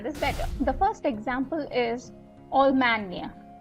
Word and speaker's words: Allemagne: The first example is Allemagne. Allemagne, right? The GNE is where I'm pronouncing the near, right?